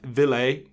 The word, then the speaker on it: Ville: I've noticed that Ville is the way that you, like filet, is how you pronounce my first name.